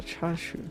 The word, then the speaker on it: chashu: Oh, I thought it was uh in the Japanese called uh chashu. Okay, so you don't pronounce it with the I. Oh, okay. Oh, no, because the si makes the sh sound.